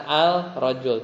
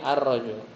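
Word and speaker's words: الرجل: Bacanya bukan al-rajul tapi ar-rajul.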